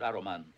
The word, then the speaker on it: Aruman: If you're wondering why I'm not pronouncing the S, Saul Zaentz thought that Saruman and Sauron were too similar as names, and he had the name changed to prevent confusion.